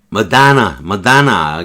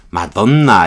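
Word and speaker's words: Madonna: 머다나. 그 백인들은 머다나 이렇게 많이 발음하고 흑인은 마다나 이렇게 많이 발음하는데 우리는 마돈나 이게 좋습니다. 그러면 마돈나라고 발음해도 큰 문제 안 돼요.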